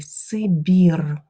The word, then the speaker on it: Сибір: жіночого роду заполочу далі Сибір на відміну від Російської тверда вимова і Сибіром холодний Сибір